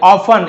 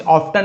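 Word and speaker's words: often: क्योंकि the villagers यानी गांव वाले, ऑफन, इसे ऑफ्टन नहीं पढ़ेंगे, टी साइलेंट है, लिखेंगे जरूर लेकिन पढ़ना नहीं, ऑफ्टन नहीं पढ़ेंगे, ऑफन, ऑफन यानी अक्सर, हमेशा।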